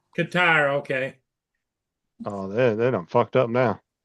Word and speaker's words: Qatar: Iran just launched six missiles into our military base in Cutters.